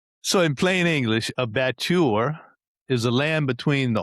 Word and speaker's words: batture: The batture The batture or the batture or how do you say it, Clint? Batture. Batture. All right. Got to roll that R.